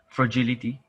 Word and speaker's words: fragility: You've formed the right word, but you've just mispronounced it. Can you try it again? Fragility.